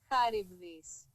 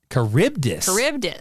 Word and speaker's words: Charybdis: Charybdis? That's the Greek pronunciation. Here's the Anglo pronunciation. Charybdis. That, you know what? It is Greek. It's from a Greek myth. Charybdis.